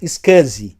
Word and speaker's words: SCSI: B botou scaz pessoal scsi é a sigla a gente costuma pronunciar scaz e o que que